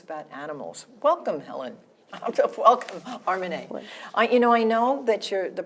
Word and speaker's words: Armineh: Welcome, Armineh. I know that the pronunciation of your name is Armineh, not Armineh, because I listened to a book